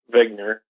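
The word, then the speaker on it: Wigner: the name of zner it's actually like he just spelled with a W uh but he's a his name is Dr Eugene vigner and originally back in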